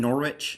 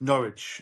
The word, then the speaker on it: Norwich: And it's in is it Norwich? Is that how you pronounce it? In England? Norwich. Norwich.